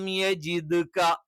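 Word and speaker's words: يَجِدْكَ: അലം യജിദ്ക, അലം യജിദ്ക യതീമൻ, അലം യജിദ്ക, യജിദ്ക എന്നല്ല യജിദ്ക.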